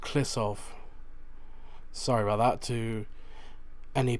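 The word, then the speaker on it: Kliszów: but so i did i did pronounce it wrong it is pronounced klissov sorry about that to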